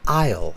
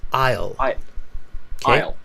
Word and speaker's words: Isle: this word is pronounced ale it's not um it comes I think from Irish it's ale Isle no you don't pronounce the s in that one it's kind of tricky